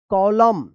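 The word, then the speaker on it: column: है आप ध्यान रखिएगा, अगर एम और एन एक साथ लिखा गया है किसी भी वर्ड में तो यहाँ पे एन जो है ना ये साइलेंट रहता है और एम का उच्चारण होता है।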